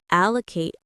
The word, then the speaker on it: allocate: It's three syllables and it feels strong and decisive. A low. The stress is on the very first part. Allocate. Notice how the a at the end is a long a sound like in late.